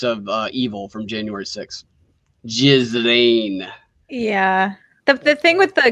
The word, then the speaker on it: Ghislaine: Ghislaine. Yeah. The thing with the Ghislaine Maxwell thing is it's probably going to implicate a lot of people who would motion be the ones.